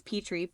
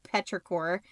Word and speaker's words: Petri: it has like my my last name is Petri Petra cor it's spelled it's spelled like my last name p e t r i core like Petra cor and I like rain